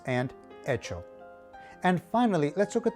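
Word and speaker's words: hecho: letter h echas and echo they both translate into the word made in spanish the letter h is silent therefore you begin your sound in this case with the letter e echas and echo and finally let's look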